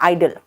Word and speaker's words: idol: IDOL में ओ का pronunciation नहीं होता, याद रखना। आइडल इसका मतलब मूर्ति जिसकी आप पूजा करते हो, और स्टैच्यू मूर्ति।